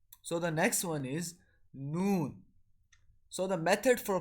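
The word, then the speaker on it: ن: So the method for pronouncing noon is when the edge of tongue touch the gum of upper canine one side to the upper canine on the other side.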